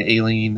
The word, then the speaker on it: Aileen: that the road where Aileen died was unfamiliar or Eileen a lien hater they pronounced it a lien because it's an A in front so neither of them